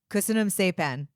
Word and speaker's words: Köszönöm szépen: Köszönöm szépen.